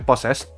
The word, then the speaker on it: PSSSSD: Nah, ini kalau misalkan kalian bingung cara bacanya, ini PSSSSD, ini maksudnya possessed.